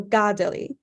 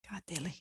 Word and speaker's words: Kateri: In the past year or two, I've actually learned that given where the accents are placed on her name in Mohawk, it should actually just put the emphasis on the first syllable instead. So Gadali.